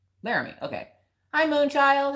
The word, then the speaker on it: Laramie: It's pronounced Cheyenne and Laramie. Laramie.